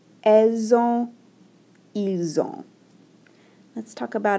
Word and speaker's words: elles ont: This T isn't pronounced at all, and then the N is nasalized.